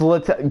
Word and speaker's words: Littell: It's Little, guys. It's Littell. Could you please stop? It pisses me off when people say my last name wrong. Stop. That guy out of Club Speedway said it was Little. Yeah, but we corrected him. It's Littell, okay? Please say it right.